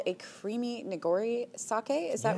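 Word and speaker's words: nigori: today this one is uh called a creamy neori sake is that right that's right do I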